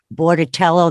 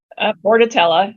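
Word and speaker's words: Bordetella: there are other vaccines I think I'm saying it right or wrong Bordello that's the one with the hepatitis bordatella yep that's different than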